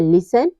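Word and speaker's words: listen: silent होगा जैसे है लिसन ऑफ और ग्लीसन इन सब में क्या है लेसन में भी टी के बाद ईन आया हुआ है तो यहां पे टी साइलेंट है ऑफ ऑफ में भी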